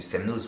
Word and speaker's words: Semnoz: si vous connaissez shana je pensais ça se prononcer chanaz et j'ai appris que en fait aucun village haute savoie en savoie et dans tous les entoure tous ceux qui finissent par x y ou z ça ne se prononcent pas y a que la montagne du semnoz pour ce câble dans le coin qui on prononce le z mais normalement devrait pas